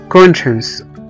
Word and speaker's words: conscience: وزي كمان كلمة conscience، conscience او ضمير، conscience c o n s c i e n c e، هنا هنلاقي في نص الكلمة على طول ال c i e، قرأناهم كأنهم حرف الشين conscience.